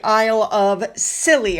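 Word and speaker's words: Isles of Scilly: Now, while all of this other stuff was going on, Prince William went to the Isle of Scilly, I believe is how you pronounce it.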